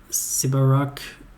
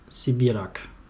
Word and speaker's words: Sibirak: Yes, Sibirak, she pronounced it differently. So it sounded like a Polish word.